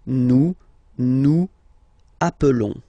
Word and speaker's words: appelons: Okay, nous appelons, and then little link would be perfect. So let's pronounce the whole thing again. Nous appelons. Nous appelons. Okay, final S doesn't exist.